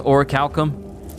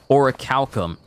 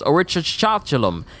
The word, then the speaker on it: orichalcum: never heard the word Orichalcum said or pronounced at all. So I just thought it was Orichachalum, and I never thought about trying to learn it.